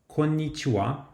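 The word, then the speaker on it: こんにちは: The best example for this is the greeting konnichiwa, which is hello or good day. Although the last syllable is pronounced wa, the writing is actually ha.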